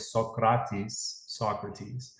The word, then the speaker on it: Socrates: by the story of Socrates. That's how you pronounce it in Greek, because he was Greek.